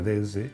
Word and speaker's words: DS: Os recuerdo, digo lo de diosa porque DS en francés se pronuncia DS, que se pronuncia exactamente igual que diosa.